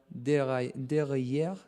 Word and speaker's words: derailleur: a puncture, but a problem on his rear derailleur. How to pronounce derailleur.